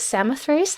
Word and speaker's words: Samothrace: Julianne has also participated, this is so cool, in archaeological excavations in, is it Samothrace? How do you pronounce this?